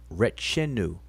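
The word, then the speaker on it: Retjenu: country of syria is what we call and pronounce wretched new r e t c h n u but he has rethenu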